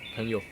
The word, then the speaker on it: 朋友: Pengyo. Yeah. The pinyin is PMG Yeah. YOU. Why are you Pengyo? 朋友.